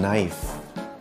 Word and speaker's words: knife: J as in marijuana k as in knife l as in yoke